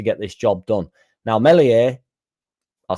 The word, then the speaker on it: Meslier: So obviously the elephant in the room is Meslier Silent S.